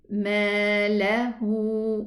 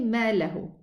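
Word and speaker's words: مَالَهُ: And then ma lahu, we have 2 counts for the alif also. So we say, don't say ma lahu. No, it's ma lahu.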